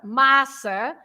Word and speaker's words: massa: If you say pasta, massa, you open the first A. You say massa, and you stress the first part, massa.